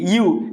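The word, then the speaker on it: ewe: বল তাহলে দেখো এটার এটার উচ্চারণ হচ্ছে ইউ এটার উচ্চারণ কি ইউ এটার বাংলা হচ্ছে ভেড়ি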